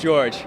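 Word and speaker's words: Dziordz: is Father George but my last name is spelled differently than George okay it's a Slavic origin so it's like DZ i o r DZ that's George oh wow okay I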